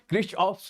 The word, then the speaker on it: Kirchhoff: that's the creature Ops how do we pronunciate it okay Chris off's law okay these laws okay